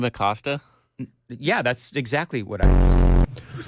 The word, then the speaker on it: Acosta: You may not have noticed that you mispronounced his name. Did I Jim Asacosta? Is that... That's... Is that not the way he's... Did you just say Jim Acosta?